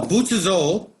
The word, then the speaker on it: Butsuzō: Buddhism today okay well butazole is the Japanese pronunciation of a Chinese word and the Chinese word